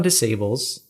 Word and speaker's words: des Sables: I mean, the marathon des Sables, is that how you pronounce that? Des Sables. Sable. All right, so the S's French are silent. for sand. That's like Des Moines in Iowa.